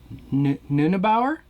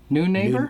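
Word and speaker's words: Neunaber: and or uh micropitch i'm gonna say the name wrong nunabaur new neighbor new neighbor yep new neighbor um and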